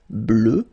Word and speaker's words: bleue: Phonetically, it doesn't exist because you don't pronounce it. So you get bleu as you would get for the masculine form, okay?